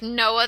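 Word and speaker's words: NOAA: that takes place before a an organization like Noah the national oceanographic and Atmospheric Association and before you think it's spelled Noah it's no OAA National oceanographic and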